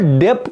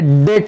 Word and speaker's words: debt: उसको डेप्ट नहीं पढ़ते, हाँ बहुत बच्चे इसको डेप्ट पढ़ते हैं, DEBT, ये बी साइलेंट है, समझे, डेट है क्या, डेट।